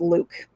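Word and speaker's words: LIWC: a very very interesting methodology it's this is pronounced luke and it was actually created by a social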